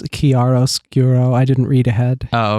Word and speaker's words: chiaroscuro: regain their presence fahrenheit chiaroscuro i glad you could pronounce that on first go i did it wrong it's kiaros gero i didn't read ahead